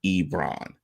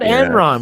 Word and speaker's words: Ebron: were last year with the addition of Eric Ebron. Can I get a round of applause for saying that correctly? You said it right, not Enron, which you could just call him Enron now because I think it's funny enough.